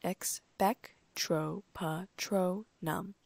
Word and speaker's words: Expecto Patronum: Now," he said, raising his wand, "the incantation for this charm is Expecto Patronum, which is pronounced Expectro-Patronum. Expecto Patronum," I muttered under my breath.